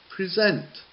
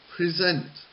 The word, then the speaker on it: present: a little different and the next verb is present present that is what I am doing I am presenting okay and the noun is present present so you can see even though they have the same the same spelling the words are spoken differently and also they can